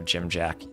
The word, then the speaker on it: Dziamdziak: Dziamdziak. Polish word that apparently I can pronounce. I've been told my pronunciation of Dziamdziak is correct.